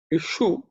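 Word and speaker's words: इषु: Ishu, we have also the Sha, which is cerebral Sha.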